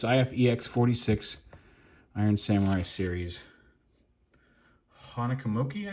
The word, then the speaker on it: Honekumoki: Honekumuki, I think is how you say it. Honekumuki.